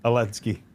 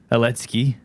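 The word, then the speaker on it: Olędzki: Oledzki. Oledzki.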